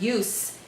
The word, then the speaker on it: use: Okay, so in this case, the word use is a noun, not a verb, so we have to pronounce it use with a strong S.